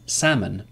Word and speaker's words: salmon: is a confusing language so these are some exceptions hallo is one example if you played the video game Halo L is pronounced bulk bulk like to